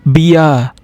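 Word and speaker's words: Bär: If you found 2 dots on the A, we will pronounce it as Ia. Example, Bia. B-A, 2 dots and R is Bia, which we call it as beer.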